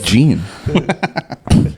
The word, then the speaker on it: Jean: Oh, Jean would be JEAN. Jean? Yeah, Jean. Just say Gene.